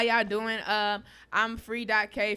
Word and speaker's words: Free.K: I'm Free.K. Free, but the K is silent.